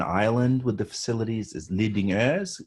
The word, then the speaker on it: Lidingö: Is Lidingö, it's what it's called. You won't be able to pronounce it because there are two vowels in Swedish that don't exist in English, or right?